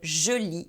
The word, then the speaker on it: je lis: Be careful, guys, because the S at the end of je lis is silent.